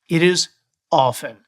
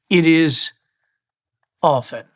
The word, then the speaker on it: often: It is often. There are no T's in any spelling of often. It is not often, it is often.